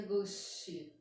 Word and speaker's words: gauche: Vocabulário é gauche, palavra francesa, pronuncia gauche.